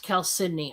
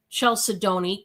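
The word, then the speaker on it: chalcedony: But it's actually pronounced Cal Sydney. I looked up the proper pronunciation, believe it or not, because I had some people calling it I was calling it Chel Sedoni because of the way it was spelled.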